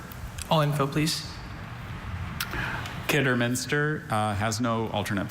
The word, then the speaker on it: Kidderminster: Kidderminster has no alternate pronunciations, just Kidderminster.